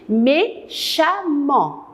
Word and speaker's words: méchamment: On a barré complètement le ANT et on a pris mèche, j'ai barré le ANT et j'ai remplacé le ANT par amant. Amant, alors je vais maintenant prononcer, je vais dire méchamment.